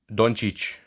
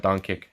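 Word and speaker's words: Dončić: doncic yeah second year don is how you say it in serbian yeah that's right not donkey he's slovenian is he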